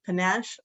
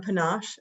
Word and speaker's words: panache: Pulled it from the Merriam-Webster word of the day, and it's pronounced either panache or panache. It looks like you can do it either way.